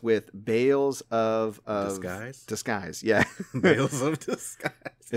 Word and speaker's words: Tales of Arise: I'm assuming it rhymes with Bales of Disguise.